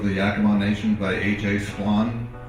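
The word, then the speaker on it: Splawn: Swan, S-P-L-A-W-N, rhymes with Jan.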